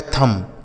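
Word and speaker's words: thumb: तो जब भी एम के साथ बी लिखा रहेगा ना तो वहां बी साइलेंट होता है। उसको नहीं पढ़ा जाता है।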